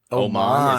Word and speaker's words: Oman: Oman. Is that how it's pronounced?